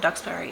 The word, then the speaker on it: Duxbury: collaboration with Meredith Duxbury so Duxbury yeah that's how you say it so anyway guys